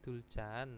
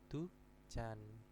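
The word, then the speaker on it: 두 잔: Terus kopi duljan. Nah, ini salah. Yang betul itu adalah kopi dujan.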